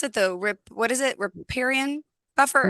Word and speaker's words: riparian: How do I pronounce it? What is it? Riparian buffer? Riparian buffer.